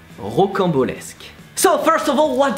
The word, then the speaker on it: rocambolesque: So the beginning is ro. How to pronounce that? Ro. Then camp. Well, camp is actually pretty easy. It's like camp, but without the English accent. So, camp. Beau is like Dave Bautista. And lesque. Just repeat.